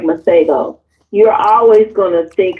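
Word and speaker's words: Masego: I'm not sure if his name is Spanish or not, but I think his name is pronounced Mago. M A S E G O.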